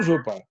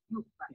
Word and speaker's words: Juppa: É Yupa ou Jupa? Eu Na sempre falei errado. verdade, escreve com J, mas a pronúncia é UPA.